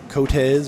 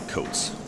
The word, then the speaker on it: Coats: Meanwhile, we also got Sebastian uh off to a lead against Cage Coz or Coats. I apologize if I'm mispronouncing that. Believe it's Coats.